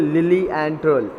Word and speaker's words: Lilienthal: देखिए इसकी नीचे प्रोनाउंसिएशन भी आपको दी हुई है, लिलिएंथल.